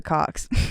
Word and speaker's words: Cochs: I'm calling my fan base the Cocks. Hell yeah. But it's spelled COCHS.